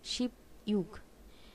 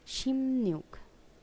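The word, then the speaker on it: 십육: জন্য কাজে আসবে আপনাদের আমরা যখন 16 বলি তখন আমরা এভাবে বলি যে শিব ইউগ উচ্চারণটা হওয়া উচিত শিব ইউগ আসলে উচ্চারণটা হবে শিব ইউগ না শিম নিয়োগ এটা একটু মনে রাখবেন শিম নিয়োগ আগের স্লাইডে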